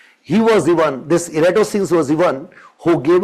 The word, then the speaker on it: Eratosthenes: Means we Indians go for a wrong pronunciation. Eratosthenes, but the original pronunciation would be Eratosthenes. So we'll say it Eratosthenes.